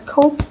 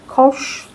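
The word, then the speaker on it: Koch: You can pronounce it as Coke Kosh. Either which way is fine.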